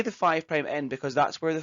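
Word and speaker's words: 5′: about what's called a five prime end and a three prime end so the five asterix is pronounced as five prime the reason that's the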